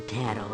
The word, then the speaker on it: tarot: each card of the tarot has many meanings a true reader of cards pronounced it like carrot when i tell a